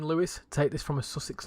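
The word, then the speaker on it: Lewes: It's pronounced that the name Lewis. Take this from a Sussex local. Okay, there you go. Lewis.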